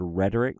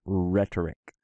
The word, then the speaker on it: rhetoric: remember like the English word rhetoric notice that H where did that come from think about it comes from the the Greek word for speakers rate or rate or and you can see that silent H right there with that rough breathing mark over the row rate or a speaker rhetoric okay as we keep